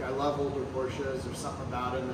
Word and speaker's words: Porsche: What's the proper pronunciation of that? Porsche. Porsche.